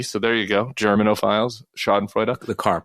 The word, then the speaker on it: Schadenfreude: at the Bulwark mispronounces Schadenfreude, and it's Schadenfreude. We have to pronounce the E. So there you go. Germanophiles, Schadenfreude.